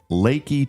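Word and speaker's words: Leakey: It's pronounced Lakey. Yeah, Lakey. I used to say Leaky, but it's it is pronounced Lakey.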